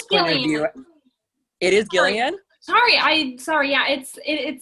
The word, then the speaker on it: Gillian: It is Gillian? Sorry, yeah, it says the G is pronounced hard as in Gil, not Jill.